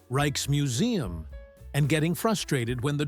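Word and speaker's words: Rijksmuseum: Reich's Museum. You kind of roll the R and the J sounds like I. Reich's Museum. That's what I said. Reichkes. It's more like Rayex.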